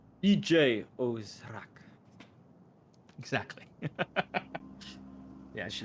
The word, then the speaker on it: Djo Zharik: The D is silent. EJ Ozrak.